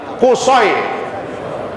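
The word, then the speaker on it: قصي: Abdul Manaf bin Qusay. Pakai short, bukan pakai sin. Kalau sin Qusay namanya. Ini Qusay.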